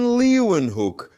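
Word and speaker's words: Leeuwenhoek: Anthony van Leewenhook. Try saying that. It's Dutch. Leewen Hook. I think that's how you pronounce it.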